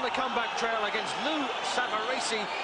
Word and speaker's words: Savarese: trail against Lou Samarese, as we will call him. The Italians behind us are pronouncing it Savarese, and that'll do for me, Frank. Savarese, I believe, is the American pronunciation, but we won't worry about that.